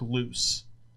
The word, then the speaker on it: Luce: So Tom, if you haven't checked out this before, go listen to Tom Waits, Waits, the song "Hell Broke Loose," and it's spelled Luce.